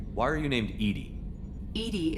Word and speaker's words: EDI: are you named Edie Edie is the phonetic pronunciation of EDI that is an acronym for enhanced defense intelligence